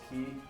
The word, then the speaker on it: quay: Quay pronounced his key.